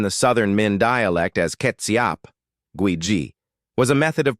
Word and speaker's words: Kê-tsiap: In Indonesia and Malaysia, the word Kê-tsiap, pronounced Kê-tsiap, emerged as a generic term for fermented sauces, most notably Kê-tsiap asin, salty sauce, and the sweet, soy-based Kê-tsiap manis.